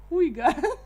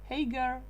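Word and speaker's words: Haigha: Oh, Huiga. Not the last one. He promised it so as to rhyme with mayor. Ah, Hagar, mayor.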